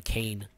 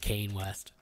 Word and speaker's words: Kanye: his live stream and he kept calling him Kane he's out of the pronounced Kayne West salt came fast was talking about Trump and